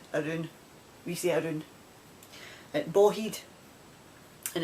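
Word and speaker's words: bawheid: around the bend around we see iron and boheed and it's spelled b a w h e i d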